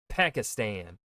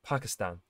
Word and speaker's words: Pakistan: Where the Americans would say it like Pakistan, right? Whereas if I'm remembering how my friend would say it, right? I haven't hung out with him in a long time, but his way of pronouncing it would be like Pakistan, which I think is the more accurate way of saying it, right? And not the long A that Americans like to use, Pakistan.